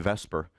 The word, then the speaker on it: VSEPR: Now when we were talking about um those electron pairs and we're kind of transitioning now into vesper and you notice it's pronounced vesper but it's not spelled vesper.